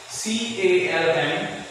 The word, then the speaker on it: calm: It's calm, not calm. Okay? L is silent here. So you say C-A-L-M, but you read it calm. Spelling is C-A-L-M, and the word is said as calm.